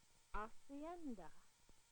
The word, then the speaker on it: hacienda: Hear it first in syllables. Hacienda. Then put the syllables together into a complete word. Hacienda.